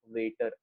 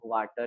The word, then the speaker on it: Vater: known as ampulla of Vater, ampulla of water, ampulla of Vater, दोनों pronunciation correct है इसका।